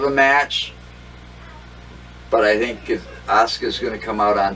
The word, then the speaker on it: Asuka: This is SmackDown Women's Champion Charlotte Flair against Asuka, or whatever the hell you pronounce her name. Asuka, that's it.